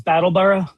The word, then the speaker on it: Brattleboro: How is it pronounced by locals? Battleborough.